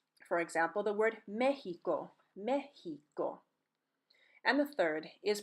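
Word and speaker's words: México: means exam or test the second is pronounced like the English letter H here we go again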